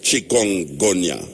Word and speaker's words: chikungunya: of this name and why is it called chikungunya? Why is it called that? Chikungunya. You're pronouncing it very well.